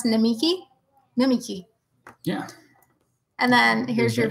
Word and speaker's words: Namiki: How do you pronounce Namiki? Namiki.